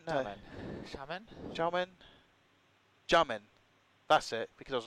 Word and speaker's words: Xiamen: We are here in, I can never say, Xiamen? No. Xiamen.